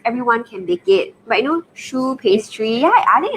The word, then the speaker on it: choux: Yeah, and of course, tell them the correct pronunciation to sound even Choux. Professional. Yeah, professional. Choux pastry. Yes. Not chokes, yeah.